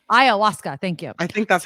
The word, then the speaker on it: ayahuasca: This would be for magic mushrooms and ayahuasca. I don't know if I'm pronouncing that right. Ayahuasca.